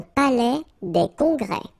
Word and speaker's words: palais des congrès: Final S here and here are not pronounced. Un palais des congrès.